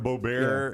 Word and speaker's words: Boebert: Talking about the Lauren Boebert.